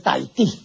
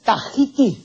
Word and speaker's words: Tahiti: tahitiano ni tampoco es tahití la pronunciación correcta del nombre de esta Isla es tahiti el término tahiti Es